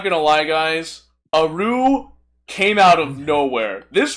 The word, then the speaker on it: Aru: Let's Let's move on to Aru. Aru. That's how it's spelled.